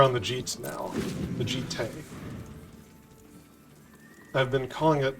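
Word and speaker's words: Jitte: The Jite. I've been calling it, like, Jeet for, like, 20 years. Since, you know, Champions of Kamigawa. And it turns out the correct pronunciation is Jite.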